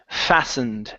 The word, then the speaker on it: fastened: better right here uh this word is pronounced fastened the T disappears okay so we're not